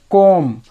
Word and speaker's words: comb: इसी तरह थम, कोम COMB लिखा होता है, वहाँ पे भी हम कोम पढ़ते हैं, कोम्ब नहीं।